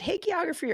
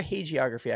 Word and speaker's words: hagiography: Is it hagiography or hagiography? I never know. With a soft G.